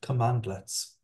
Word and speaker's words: cmdlet: in the form of CMD letter pronounced commandlets these are commands that